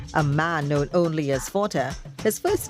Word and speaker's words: Fortin: Punta became Point, at one time spelt ending with an E, and Fortin's name remained, pronounced by the locals as Forte, until the British came, changing that to Fortin.